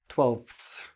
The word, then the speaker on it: twelfths: So you have a lot of consonants here. 12ths.